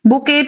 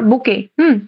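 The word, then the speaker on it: bouquet: collective noun ঠিক আছে বোকেট of flower বোকে উচ্চারণটা হচ্ছে বোকে বোকে of flower dozen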